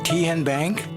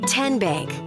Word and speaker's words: Tenbank: How do you say the name Ken Bank? Nope. Tin Bank? Uh-uh. So, what is it? 10 Bank. 10 as in Tennessee.